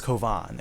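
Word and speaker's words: Cobán: my main name but my name is kovan and it's like a Spanish name so it's like c o b an but with an accent over the a so it makes the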